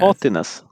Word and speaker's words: haughtiness: Yeah, Haughtiness. it's like naughtiness, but haughty.